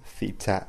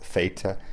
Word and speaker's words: theta: It may be pronounced either way, theta, theta, depending on the dialect.